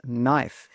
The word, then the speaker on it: knife: well the answer is knife the K in knife is silent just like in words like no and knock all of the other